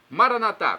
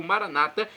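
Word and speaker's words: Maranatha: E agora eu clamo do aramaico dialeto de Jesus, Maranatá, como dizemos nós católicos, ou Maranata, como dizem nossos irmãos separados, os evangélicos ou protestantes. Não importa a pronúncia, o significado é o mesmo.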